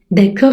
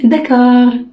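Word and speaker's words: d'accord: والدال ديت يا جماعة حتى نقطة تحتها لا تنطق، يبقى ده كار. ده كار. ده كار. داكور يعني ايه؟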